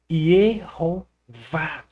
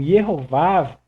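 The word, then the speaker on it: יְהֹוָה: Adicionaram o O, que é o Rolling, e adicionaram o Kametz, que é um outro A. E aqui você tem justamente a pronúncia Yehová.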